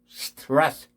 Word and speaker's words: stress: ST 발음이 ST 이 발음이거든요. 스트레스. 조금 떨어져서 들으면은 stress. ST가 안 들리죠. stress. I don't want stress. 정확하게 무성음으로 ST가 처리돼야 돼요.